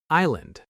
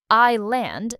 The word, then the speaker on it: island: Island. This word has a silent S. We don't hear it at all. I land, not I sland.